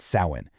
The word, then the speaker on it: Samhain: It was an ancient Celtic festival called Samhain, and you pronounce that Samhain.